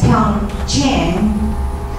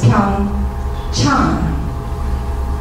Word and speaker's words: PyeongChang: What was happening was that NBC was pronouncing it as PyeongChang, and Koreans, the local pronunciation is PyeongChang. Can you hear the difference?